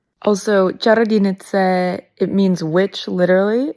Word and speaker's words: Čarodějnice: It's pronounced Čarodějnice, but you were so close. So close. Yeah. Also, Čarodějnice, it means witch literally.